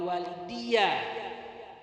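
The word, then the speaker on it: وَالِدِيَّ: Rabbi firli wali walidiyya. Bukan daya lagi, wali walidiyya kasrokan dalnya.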